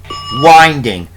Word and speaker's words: winding: But it's pronounced winding like in the Beatles song, The Long and Winding Road.